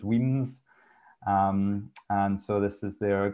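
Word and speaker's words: Wemyss: And so that's Weems, so Weyss, pronounced Weems.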